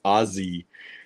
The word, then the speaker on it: Aussie: way I have to teach you Americans how to pronounce Aussie it's Aussie those two s's turn to a z huh Aussie not here